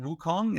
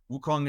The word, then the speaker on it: Wukong: is based on a character of uh Sun Wukong is that correct I don't know if I'm pronouncing that correct yes yes um or The